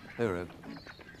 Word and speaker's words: hooroo: Or as some people in Australia say, hooroo. Hooroo. It's time to say goodbye to you. Say it like Australians do.